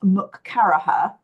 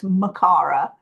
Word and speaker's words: McCarraher: My name looks like it's pronounced Mukaraha, and actually it's Makara.